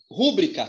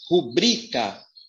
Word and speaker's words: rubrica: Essa primeira palavra, a sílaba mais forte é o bri. Então, pasme, você que não sabia. A pronúncia é rubrica.